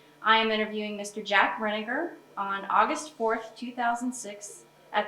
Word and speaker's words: Rininger: Okay, and I'm saying it correctly, Rininger? Is that Ma'am? Rininger is how you pronounce it?